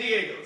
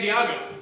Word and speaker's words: Diego: down right s San Diego it's spelled and pronounced the exact same way for those of you